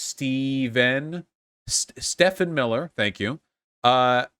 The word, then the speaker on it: Stephen: good reason too now stephen miller it's pronounced steven stefan miller thank you